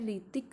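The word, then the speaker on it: Hrithik: जो famous actor है ऋतिक रोशन। तो स्टूडेंट इसमें ऋतिक की स्पेलिंग आपको ढंग से चेक करनी है। जो ऋतिक में एच साइलेंट होता है और स्टार्ट किससे होती है, एच से।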